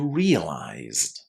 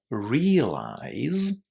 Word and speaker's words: realize: How does the verb realize, in its base form, finish? How does it finish? What can you hear at the end? Listen again. Realize. Realize. What can you hear? It's the z sound, right?